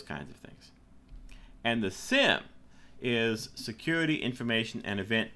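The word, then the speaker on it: SIEM: of things and the Sim is security information and event management and we just pronounce it Sim this is a system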